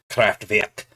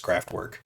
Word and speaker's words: Kraftwerk: If I were to say it in German, it would be Kraftwerk. And English, American, of course, it's just Kraftwerk.